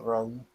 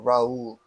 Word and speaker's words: Rahul: I mean, it's Rahul, but yeah, when like everybody says Rahul because it's like difficult to pronounce maybe, but yeah, like I myself call it like it's said like Rahul, Rahul. like emphasis on the H.